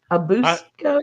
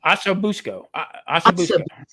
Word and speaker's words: ossobuco: A busco. Ossobuco.